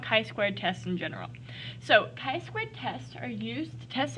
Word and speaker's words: chi-squared: and today we are going to talk about chai squared tests or chi-squared test is how they're actually pronounced but you'll hear me mispronouncing it probably